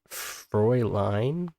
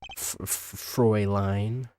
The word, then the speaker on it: Fräulein: It's Fräulein. So I pronounce it as Fräulein.